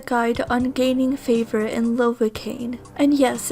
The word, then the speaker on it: Lovakengj: on gaining favor in lovacaine and yes it's pronounced lovely cane makes sense because it rhymes with pain and that's exactly what